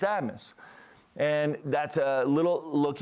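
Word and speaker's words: Abmas: Max Asus okay but his name is spelled ABB M and so for the longest time I've been saying admus because you just read it on paper and it's Abus and that's a little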